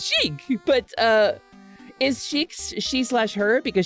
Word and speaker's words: Sheik: How do I pronounce Sheik? It's Sheik, but is Sheik she/her because Sheik is really Zelda in disguise?